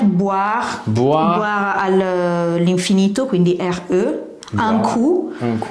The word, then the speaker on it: coup: Un coup. Coup, quindi Q si scrive C-O-U-P, quindi la P è muta, che vuol dire boire un coup, vuol dire venire a bere un bicchiere.